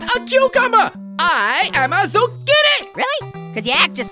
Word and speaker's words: Zucchini: Great, I'm Zucchini, rhymes with Houdini.